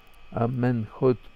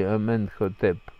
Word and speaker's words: Аменхотеп: Аменхотп или Аменхотеп, по-разному можно произносить египетские имена. Мы там больше знаем согласные, а не гласные.